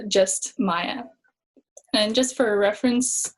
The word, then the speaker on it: Maiya: for a school project, and it's called Just Maiya. And just for a reference, my name is spelled M-A-I-Y-A.